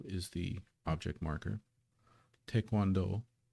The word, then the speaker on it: taekwondo: Taekwondo is of course, as usually, it's usually pronounced in English by English speakers, Taekwondo. But that first syllable, if you look at the Hangul, is te, not tai. Taekwondo, taekwondo.